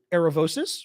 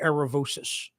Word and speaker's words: Aravosis: your name on here aravosis is my last name well because I'm American so we say aravosis it is officially aravosis in Greek but for Americans we say aravosis um so yes I